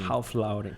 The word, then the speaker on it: Ralph Lauren: Eu estava vendo a história do fundador da Apollo, Ralph Lauren. Não sei nem se pronuncia assim. Ralph Lauren. Né? É assim? É assim mesmo.